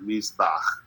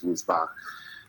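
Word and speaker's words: מזבח: Let's start off with Ve'et, so it's an, and then there's a pointer, Mizbach, or Mizbach, depending on how it's spelled in the sentence. Here it's Mizbach.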